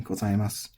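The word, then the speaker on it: ございます: But what you also are going to need to know is that the su at the end of this typically does not have the vowel pronounced. It's normally not gozaimasu, it's normally gozaimasu.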